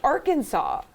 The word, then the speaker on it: Arkansas: really quick um that the spelling of arkansas is absolutely outrageous and infuriating there's it's spelling francis is in there the word kansas is in that so you can't just say that that's pronounced arkansas you know what like